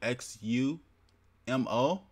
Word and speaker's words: Xumo: to search it and this is how you spell it X you mo press ENTER go down and install it now